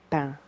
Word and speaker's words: pain: I know they pronounce the N, but it's quiet.